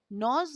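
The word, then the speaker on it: gnaws: Hour আপন hour হি নজ। ঘন্টার পর ঘন্টা সময় ধরে সে চিবোতে থাকে। নজ মানে, উচ্চারণটা দেখো, নজ হবে, জজ নয়। নজ, জি এর উচ্চারণটা নেই, নজ।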